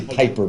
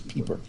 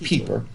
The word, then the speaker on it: Pieper: We want to say Piper, but the proper pronunciation is Pieper. P-I-E. It's really Joseph, but Joseph Pieper.